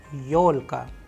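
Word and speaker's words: ёлка: as if in audio we have used the russian word yolka yolalka where you can see the stress is on yo because it is also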